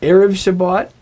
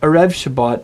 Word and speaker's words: erev Shabbat: It's erev Shabbat, not erev Shabbat, and it's Negev, not Negev.